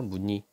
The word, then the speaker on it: 무늬: 자음을 갖고 있다는 얘기죠 이때 음절의 의는 2로 발음해 그래서 얘가 무늬 무늬를 볼까요 좀 더 크게 해보자 문의를 볼까요 첫소리가 자음이 있어 니은이 있지 이럴 때는 발음을 어떻게 하라고 이로 발음 해라 무늬이 뜻입니다 그다음에 단어의